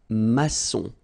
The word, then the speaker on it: maçon: Here you can see that we've got this little cédille beneath the C, okay? And it just means that you will pronounce this C as S, okay?